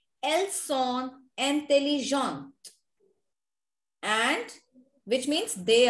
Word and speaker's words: elles sont: When we say elles sont, there is s sound. When we say elles ont, which means they have, there is z sound, z sound.